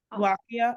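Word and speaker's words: Al-Waqi'ah: Al-Waq'iah. Al-Waq'iah. Al-Waq'iah? Is that it? Does anyone know like the proper? The Arabic. I guess Waqi'ah. It's Surah Al-Waq'i'ah. Waqi'ah.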